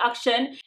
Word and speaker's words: Akshan: I should seriously start pronouncing it rightly, Akshan.